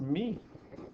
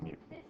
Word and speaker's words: mu: I asked her and she said it's pronounced me. But in the scientific community, we pronounce it mu.